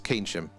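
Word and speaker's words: Keynsham: What's it it's is it Kensham just outside of Bristol? It's Kensham.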